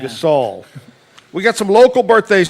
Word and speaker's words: Gasol: looks like uh Mark I don't know how you pronounce the last name gasel g o l he's an NBA basketball player Oh Gasol yeah Gasol we got some local